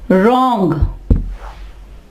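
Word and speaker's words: wrong: Okay, अब आ जाएगा रॉन्ग, रॉन्ग। ठीक है, यहां पे देखिए W के बाद R है तो W साइलेंट हो जाएगा।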